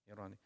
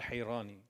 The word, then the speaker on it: Hirani: Is it pronounced with a soft ha or hard ha? Ha, Hirani. Not Hirani. Okay. Or Harrani, yeah.